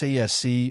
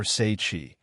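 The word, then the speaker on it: Tsaesci: That race was known as the Tsiesi and, pronounced Tsiesi or Seichi, that could be described as the Serpent Folk.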